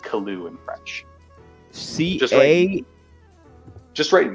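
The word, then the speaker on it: Caillois: l i o u s Koo but it's pronounced kaloo in French CA just write man playay and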